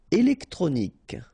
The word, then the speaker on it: électronique: Électronique, okay, so k at the end, remember, Q-U-E at the end, k.